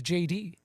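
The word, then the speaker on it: Jayde: Just And interesting, the star of the movie, his his name is J D. Oh, wow. His name is spelled J A Y D E.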